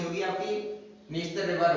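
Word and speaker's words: Dniester: उसको भी सेम ऐसे ही प्रोनाउंस हम क्या बोला, हमने नीस्तर बोला, लेकिन वो लिखेंगे कैसे, इस प्रकार से।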